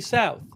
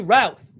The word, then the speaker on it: Routh: Fox News has released a name. They say his name is, Ryan Wesley Routh. Ryan Wesley Routh. R-O-U-T-H. Sorry about that.